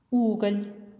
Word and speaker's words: угол: случае с мягким знаком в слове уголь звук л произносится мягко а во втором случае звук л произносится твёрдо Давайте ещё раз повторим